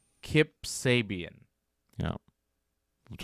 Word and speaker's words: Sabian: And he's wrestling Kip Sabin. Kip Sabian.